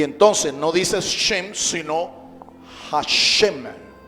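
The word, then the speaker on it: שם: Se dice shem. Shem. Shem. Y se escribe con las letras shin y men.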